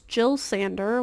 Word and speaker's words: Jill Sander: It's Jill Sander, which is a designer. Jill is spelled J-I-L.